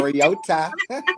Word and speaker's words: Mariota: Let's pronounce my man's name right. Put some respect on his name. Mariota. That we've been pronouncing all these years wrong, but okay.